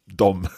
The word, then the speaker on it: de: and then we've got this strange one called dom that doesn't look like what it sounds like okay right i just